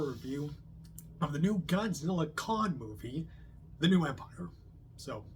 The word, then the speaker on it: Godzilla x Kong: So yeah, I don't think you're supposed to pronounce the X, I hear. No, it's just Godzilla Kong, not Godzilla X Kong. I don't know, I guess the X is silent.